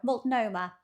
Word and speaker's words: Multnomah: I'm going to have to listen to how he pronounces that. Is it Multnomah? Oh, there we go. Multnomah.